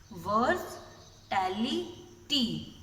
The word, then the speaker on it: versatility: देखो इसकी प्रोनाउंसिएशन कैसे होगी, आप इस वर्ड को थ्री वर्ड्स में ब्रेक करना। वर्सटैलिटी, वर्सटैलिटी, okay, वर्सटैलिटी।